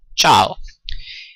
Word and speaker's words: Ciao: When you meet a friend you would say "Ciao", again "Ciao" notice that "Ci" in italian is pronounced like "Ch" in English so it's "ch" so chaw but, if I would